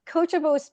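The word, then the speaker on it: Coachjable: I want to emphasize the sound of ch coachable because we are all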